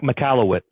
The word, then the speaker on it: Michalowicz: this a while ago but the the mike mchalewick is that how i say his last name mike michalowicz colleagues there you go i can't say it